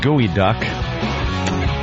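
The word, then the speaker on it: geoduck: Pronounced gooey duck.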